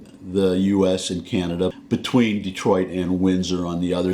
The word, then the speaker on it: Detroit: conquered it the British left and we've always pronounced it Detroit that happens all the time now the point is well that's just how we pronounce it but if a French person comes over and says date wha I don't get bent out of shape over